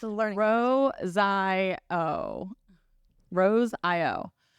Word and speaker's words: Rosaio: Rosaio. Rosaio. There's no R. It's not Rosario. Yeah. It's Rosaio.